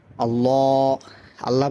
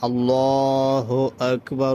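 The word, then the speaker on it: الله أكبر: আসসালাতু খাইরুম মিনান তারপর দেখেন আল্লাহ আল্লাহ বললে হবে না। আল্লাহু আকবার। আল্লাহু আকবার।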